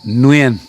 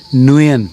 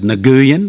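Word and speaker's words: Nguyễn: Um, let's go with nuan, which mean which you might spell n w i e n. Nuen in English. Um, nuan. So, uh, you could just say Mr. Nuian. Mrs. Nuen. And it's not technically perfect, but it's a lot better than most of the variations I've heard of this name, which uh in Australia,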